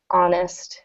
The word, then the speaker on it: honest: H is honest silent so this actually starts with a vowel sound Senator Jackson is an honest woman so words like